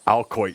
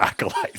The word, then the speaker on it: acolyte: But none of you were as wrong as I was with saying alcoit for acolyte.